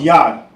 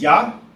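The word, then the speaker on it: יד: Hand in Hebrew is pronounced yah. And this is how it'll be written in the Hebrew. Remember from right to left, that's yah.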